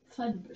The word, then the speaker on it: Fudbert: Fake name anyway, but it rhymes with Fudgebert. It rhymes with Fudgebert? Fudbert.